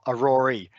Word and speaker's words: aurorae: technically to be correct the plural of of many of an aurora are a rory so it's spelled slightly different with an extra e at the end and so we would